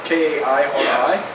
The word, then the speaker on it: Kairi: It's Kairi.